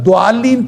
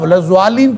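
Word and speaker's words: ضالين: کیے اس کو غلط ضالین پڑھ لیں گے تو یہ غلط ہوگا، اس لیے حرام ہوگا کہ وہ آپ نے دال پڑھی ہے، وہ ضاد نہیں پڑھا. اسی طرح اگر آپ ضالین پڑھ لیں گے بغیر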